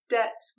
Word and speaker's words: debts: B at the end debts with silent B in the middle and the word aisle